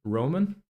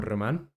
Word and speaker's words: Roman: is your name uh my name is Roman or Roman uh depending of if you uh pronounce it with an English accent or a Spanish accent uh so yeah a